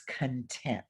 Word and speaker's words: content: because that word content, when you emphasize the wrong syllable, it will change the meaning. So we're going to say content, students, where they accent the second syllable. If I say content, that means your materials and your belongings, but content means happy, satisfied.